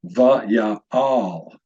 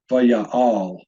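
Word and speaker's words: וַיַּעַל: This word would be pronounced va'ya'al, va'ya'al. Notice this little marking above the lamed, which is a Hebrew diacritical stress marker. Every one of these words has been given a stress marker.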